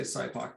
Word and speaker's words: SIPOC: People pronounce this in goofy ways, but I'm going to say SIPOC today.